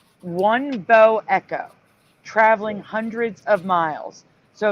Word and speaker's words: bow echo: like a cloud shape wouldn't that be pronounced uh bow Echo like the bow of a ship rather than bow I don't know that's how the news pronounces it that's why I pronounce it way I think they're wrong I think they're wrong too but they call it